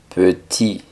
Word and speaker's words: petit: en francés se dice petit pe la e no es tan abierta como una e en español p sino un poco más cerrada p y la t del final no suena Por lo general las